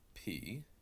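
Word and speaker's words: π: with this letter and you'll be tempted to call it pie in the irassman we will pronounce that as the P sound now you can call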